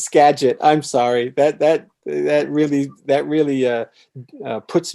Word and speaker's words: Skagit: Okay, and first I have to correct my pronunciation of Skagit. It's Skagit.